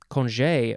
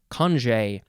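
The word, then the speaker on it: congé: is okay next is conj conje or conjay c-o-n-g-e accent on the e low on the left high on the right or it could be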